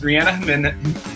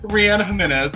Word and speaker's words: Reanna Jiminez: I am here with one of my beautiful friends, Reanna Jiminez. Oh my gosh, I messed up. Why is it so hard for me? Reanna Jiminez.